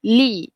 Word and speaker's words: gli: I g I okey it's not glee tapi le okey contohnya dalam perkataan